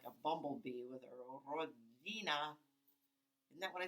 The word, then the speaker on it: Rodzina: she'd give him gertie that's pronounced rodzina i interrupted making that sound between a d and a g and a z it seemed only polish mouse could make sort of like the g sound in bridge or cage or